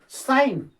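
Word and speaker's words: sign: साइन, न उच्चारण होता है, ओके।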